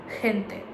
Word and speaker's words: gente: In some cases, like when you're saying this word, it's more like a H. So in this case, it's gente. And you might know that super popular song Mi Gente.